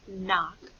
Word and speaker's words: knock: So, sometimes when we hear the N sound, like in knock, it will be spelled with a K-N.